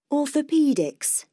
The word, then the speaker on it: Orthopedics: Orthopedics. Orthopedics. Orthopedics. 1, 2, 3, 4 và nhấn vào âm thứ 3. Orthopedics. Ok. 7. Pediatrics. Pediatrics. 1, 2, 3, 4 nhấn vào âm thứ 3.